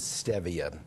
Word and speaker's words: Stevia: looks like Stevia but the correct pronunciation is Stevia it's Spanish and and it comes